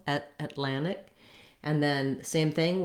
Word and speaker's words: Atlantic: and then same thing where we might omit that tea and say just more of a lannick atlantic rather than atlantic again this tea is optional i would say you can say atlantic and i do hear native speakers say that quite a bit but you don't want this tea not atlantic you can also do atlantic atlantic with no team so when you can